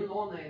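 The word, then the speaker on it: Юнона: Juno, but the other... Yunona in Russian.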